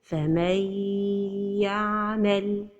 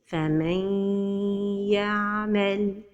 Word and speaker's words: فَمَن يَعْمَلْ: The mistake is to pronounce it idgham without ghunna. فَمَن يَعْمَلْ. And the right pronunciation is with ghunna. من يا. So the right pronunciation is فَمَن يَعْمَلْ.